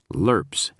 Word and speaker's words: LRPs: Griffin had packed standard issue cantens, LRPS, meals which were pronounced lurps, hot sauce to kill the taste of the lurps, a tin can for coffee.